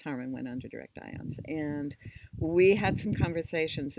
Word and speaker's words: IONS: It's pronounced IONS.